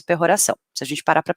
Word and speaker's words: peroração: Fica difícil, né, escrever como se pronuncia, né? Mas é peroração, tanto faz.